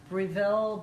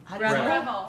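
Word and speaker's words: Breville: do you say it it's not Brazil Bruce reville reville it's so good because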